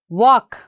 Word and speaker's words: walk: And what about this one? Walk. Here we are not saying L.